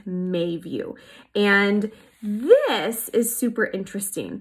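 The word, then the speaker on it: Meiview: It's actually spelled M-E-I-View, but it's pronounced Mayview.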